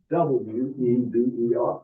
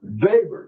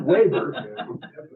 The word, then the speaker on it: Weber: The most famous is a book by a German sociologist called Max Weber, W-E-B-E-R. Weber, not Weber, Weber, German pronunciation, Max Weber, one of the most important books in the history of the development of the social sciences.